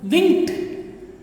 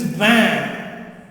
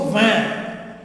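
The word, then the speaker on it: vingt: Winked? No. Banked? No. It is van. Okay, not winked. Neither it is wanked. T is silent. So van. Just van.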